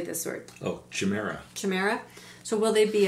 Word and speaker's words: chimera: Oh, chimera. Chimera. So will they be a hybrid or a chimera created in a laboratory? Well, some people say chimera. That's what I was thinking it was chimera, but I wasn't sure.